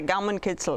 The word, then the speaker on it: Gaumenkitzel: All right, so how's my Gaumenkitzel? Is that? Your pronunciation is excellent.